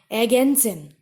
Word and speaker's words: Ergänzen: Ergänzen. Ergänzen is to fill up, to complete. So here also R is not pronounced.